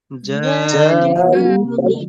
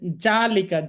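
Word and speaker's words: ذَٰلِكَ: আচ্ছা, এখানে যদি আপনি জালিকা, যা এরকম বলেন তাহলে অক্ষরটা কিন্তু জিম হয়ে যাবে, যালিকা অক্ষরটা চেঞ্জ হয়ে যাবে। একটা অক্ষর যদি চেঞ্জ করে ফেলেন অর্থটা অটোমেটিক চেঞ্জ হবে। এটা হবেই, অবশ্যই হবে। জালিকা এই জন্য হবে না, নরম করে রা, জিহ্বার আগা উপরের সামনের যে উপরের দাঁত আছে, দাঁতের সাথে লাগিয়ে যালিকাল কিতাবু লা রাইবা ফীহ।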